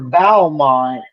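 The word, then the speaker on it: Beaumont: Uh, but straight for Bowmont, Mr. Warning, right? Is that how you pronounce it?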